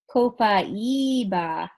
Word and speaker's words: copaiba: at the bottom copaiba how it's written on the second with the accent on the eye copaiba coke I'm sorry my